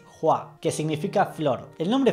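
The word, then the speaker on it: Hua: como es en cantonés la pronunciación correcta en mandarín es jua que significa flor el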